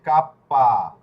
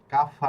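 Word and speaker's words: cappa: Ilunga K L কে না, M এটা হচ্ছে কাপ্পা। Kappa কাফা না, কাপ্পা। প, Kappa ফ না, প, প, কাপ্পা।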